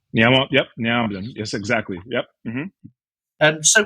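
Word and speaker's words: Nea Onnim: And then the second dish, and I can't be sure of how to pronounce this. Nea Omnin? Yep, Nea Omnin.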